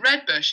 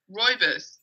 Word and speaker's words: Rooibos: And I was like, oh, is it Red Bush? And he's like, no, Rooibos. Like, this is how you say it, Rooibos. Anyway, it turns out it is Red Bush. So yeah, apparently that's how the Afrikaans say it, which is cooler.